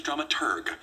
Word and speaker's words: dramaturg: logan our stage manager the correct pronunciation is dramaturg the researcher of the